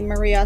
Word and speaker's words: Marija: So it's going to be Marija, spelled with a J. So I'm pretty much the only Maria there with the J in automotive. You'll find me easy. So it's Marija.